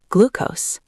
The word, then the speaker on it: glucose: Word one, glucose. Glucose. Stress on the first syllable.